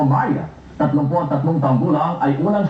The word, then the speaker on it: Maricel: Magandang gabi Maria niyo ba ang dream ko yun na marinig niyo magandang gabi. Mara yun talaga ang pangalan ang pronunciation ng pangalan Mar. Hindi Maria actually dati po Maria tawag